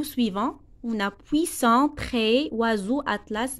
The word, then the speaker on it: oiseau: La lettre S se prononce Z, c'est comme oiseau et c'est comme maison.